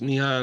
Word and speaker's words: Nihan: Um Nihan is there anything first of all am I pronouncing your first name correctly? Yes. Nihan arrive. Okay. Like arrive like Nihan has arrived.